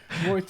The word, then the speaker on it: Reuters: Is that how you pronounce it? Reuters. Definitely not Reuters.